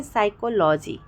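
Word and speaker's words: psychology: है यह जानते हैं अगर एस लेटर से पहले पी आता है तो पी साइलेंट हो जाता है एग्जांपल देखते हैं साइकोलॉजी ठीक है लॉजी अब देखिए यहां पे एस से पहले पी आया हुआ है तो हमने उसको साइलेंट कर दिया है ठीक है साइकोलॉजी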